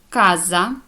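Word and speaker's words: casa: вивчити і запам'ятати далі коли буква буква ч читає це як к коли вона стоїть після неї йде голосна а о у наприклад ка Каза будинок коза річ куоре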